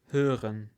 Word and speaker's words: hören: Либо слово hören, слышать, hören. Как ее правильно произносить? Для меня она звучит как звук человека, который умирает.